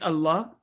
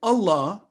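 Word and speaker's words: الله: letter lam is a divine word for allah is always pronounced with thick or heavy sound if preceded with a letter carrying fatha or them and it is pronounced with light sound or thin sound if preceded with a letter kasra for example in bismillah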